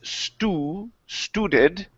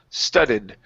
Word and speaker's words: studded: Typically, when you have a double letter sound like this, the vowel right before that is going to be short. So instead of saying stew, the word is studded, rock-studded dirt.